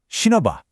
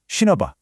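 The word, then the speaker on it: 신어 봐: This becomes shinoba. Can you hear that link? Let's say it together. Shinoba.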